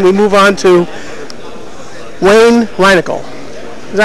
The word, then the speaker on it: Reinagel: From Airship 27, we move on to Wayne Reinagel. Is that how it's pronounced, Wayne?